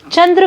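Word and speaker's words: चाँद: जब आप मेरे साथ यह शब्द बोल रहे हैं तो आप पा रहे हैं कि चांद का उच्चारण करते समय चंद्र बिंदु की जो ध्वनि है वह नाक और मुंह दोनों जगह से निकल रही है।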